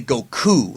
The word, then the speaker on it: Goku: him as Goku but the correct way to say his name is actually Goku like you have to it's weird you're supposed to emphasize the KU Goku and I think